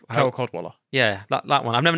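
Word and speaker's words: Cadwalladr: And actually, there was an article with him from 2012 where I agreed with Carol Codswallop. Carol Codwaller.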